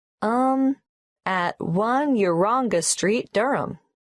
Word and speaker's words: Durham: at one uranga street durham how do you spell durham d-u-r-h-a-n of course i should know that but it's just one of those names that sounds quite different from the way you spell it it is confusing i've